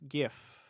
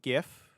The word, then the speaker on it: GIF: How do you pronounce GIF?